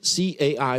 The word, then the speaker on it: Cai: Now, another point, very interestingly, I listened very carefully to what Ambassador Cai, it's pronounced as Cai, said, and I was intrigued that this Cai,